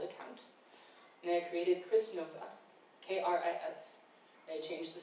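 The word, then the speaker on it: Knova: So my name would be Nova with a silent K.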